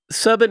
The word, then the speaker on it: Subban: Subban, is that how you say his name?